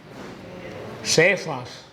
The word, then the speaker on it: Cefas: en arameo y en Cómo se dice piedra en arameo cefas piedra se dice cefas por eso Pablo varias